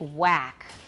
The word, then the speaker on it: whack: How would we pronounce it based on the spelling? How? Whack, but with traditional Taiwan English training, it would be whack, right? Whack. Now, a lot of people don't use the voiceless w sound.